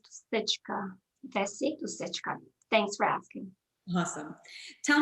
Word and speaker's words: Dusichka: a difficult last name the correct way to pronounce it is stitch thanks for asking awesome